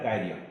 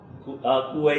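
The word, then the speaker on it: quay: അപ്പൊ ശ്യാമലി എങ്ങനെയാ ഉച്ചരിക്കുന്നത് കുവൈ എന്നോ അതായിരിക്കും ആക്ച്വലി അതിന്റെ ഉച്ചാരണം കീ എന്നാണ് കീ കെ ഇ വൈ എങ്ങനെ ഉച്ചരിക്കുന്നു അത് അങ്ങനെയാണ് അതുപോലെ ഒത്തിരി ഇപ്പൊ എസ്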